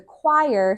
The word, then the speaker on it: choir: So the choir sounded beautiful as they sang their song.